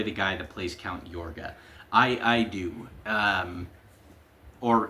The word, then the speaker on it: Yorga: It's spelled y o r g a on the DVD case here. His name is Count Yorga, like i o g i o r g a in the movie.